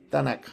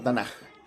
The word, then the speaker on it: Tanaj: Por eso a la Biblia hebrea se le llama Tanac o Tanaj, como seguramente lo podrían pronunciar ellos.